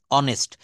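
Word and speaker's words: honest: Letter প্রথমে এসেছে এইস এইস ও এনই এসটি অনেস্ট তো এই এইসটা হচ্ছে কনসোনেন্টের একটা 21 টা কনসোনেন্ট তার ভিতরের একটার নাম হচ্ছে এইচ।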